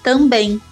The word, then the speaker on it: também: Percebam como eu pronuncio a palavra também. Uma escuta atenta nos leva a constatar que não há um encontro dos lábios. O M no final é produzido como um ditongo nasalizado, como em. Porém, no inglês, como em cream and rhythm, ocorre o encontro dos lábios no final das palavras.